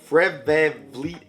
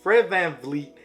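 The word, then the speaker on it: Fred VanVleet: booker de aaron fox is someone i like fredbear fleet and oj oh sh i just pronounced both of those fred van fleet and ogianna nobi are also two players that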